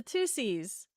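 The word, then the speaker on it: C.C.: CC, you mean 2C? Yes, you know it's spelled CC. The 2 C's.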